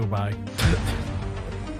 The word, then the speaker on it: Dubai: I wonder if she's going to go to Dubai then. I wonder. Let's give her a ring. Yeah, that Heather Jafar's right. The way that you're pronouncing it is like do and then buy.